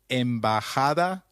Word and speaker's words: embajada: Did you notice that embajada is pronounced as embajada? We learned earlier that the letter J takes up the sound of a stressed H in Spanish.